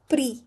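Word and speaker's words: prix: If s x is at the end last word x last letter it is silent like pre pre means money price or the the means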